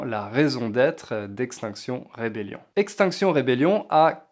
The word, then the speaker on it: Extinction Rebellion: Donc à l'origine c'est Extinction Rebellion, mais en français on le prononce à la française parce que c'est les mêmes mots.